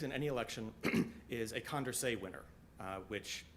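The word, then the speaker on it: Condorcet: any election is a condray winner uh which it's a French word so it's not spelled anything like it's pronounced uh that's the candidate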